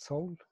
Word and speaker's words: Seoul: that's interesting I mean in Seoul you pronounce it sold yes I think that